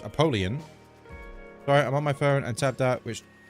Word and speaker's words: Apollyon: So I forgot that I unlocked the blue room yesterday, so if we can, my goal with Apollyon, or the way it's actually pronounced, Apollyon.